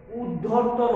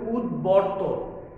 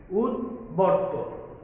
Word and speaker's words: উদ্বর্তন: তারপরে উদ্ধর্তন, অনেকে বলছি এটাকে, এটা হবে উদ্বর্তন, উদ্বর্তন।